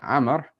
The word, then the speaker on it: Amr: In order to distinguish between the word Umar and Amr in Arabic, the Arabs added a wow after the ra of Amr. Right, so the wow, it means nothing. You're not going to pronounce it at all.